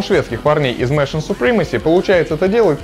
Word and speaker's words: Machinae Supremacy: supremacy начнём с названия несмотря на написание оно произносится нормально mion supremacy иногда их называют сокращённо МАУ но никак не машиная ну с названием разобрались